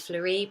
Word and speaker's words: Fleurie: Hi, my name's Fleurie, pronounced like Marie, and I'm here to understand you and your business, help you achieve your ambitions, and hopefully have a good time.